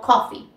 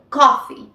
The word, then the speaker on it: coffee: Tan sencillo como eso recuerde que la doble e la pasamos a una y en vocal y la f simplemente pues es una F no no hace falta que coloquemos las dos para no marearnos y quedaría como coffee coffee bien recuerden siempre agregarle